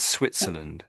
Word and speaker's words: Switzerland: So it's the same S at the front that you want to this S on the name of the country. So Swiss and Switzerland.